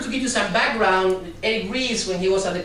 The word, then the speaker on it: Eric Ries: You probably know this guy, Eric Ries. There are a couple of interesting things about him. The first is that everyone that reads the book says Eric Rice, because the R-E-S-E, you should expect that to be pronounced rice.